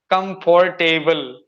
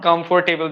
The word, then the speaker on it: comfortable: say the same like comfortable but it is not comfortable there are not four syllables only three syllables are there comfortable comfortable table